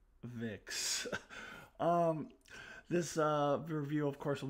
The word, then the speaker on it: Twovix: So, sounds like the title of a Voyager episode that I hate, but it is spelled T-W-O, like the number 2, so I'm going to call it Twovix.